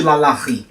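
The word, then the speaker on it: LaLaRi: por alguns motivos porque a pronúncia na francesa ela não ri todos os vídeos que eu procurei na internet Falando sobre essa mulher as pessoas que usavam sotaque inglês chamavam de Loren não de Lalá então eu fiquei muito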